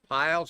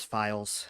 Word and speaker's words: Files: Piles, I hope I'm pronouncing that correctly. And next up is Steven Scar. Thank you, sir. It is Files.